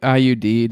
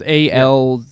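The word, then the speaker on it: Al Udeid: aircraft took off from how did you pronounce it? IUD. It's AL-UDEID. UDEID. Exactly. IUD and whatever.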